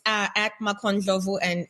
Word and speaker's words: Makho Ndlovu: media okay so on social it's uh at macon jovo and it's spelled m-a-k-h-o and last name n-d-l-o-v-u and one